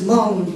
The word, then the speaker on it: Hmong: And because he doesn't understand it, and he pronounce this word, say Hmong. And actually this is not Hmong, this is just Hmong. The H is a silence, so it's just Hmong to us.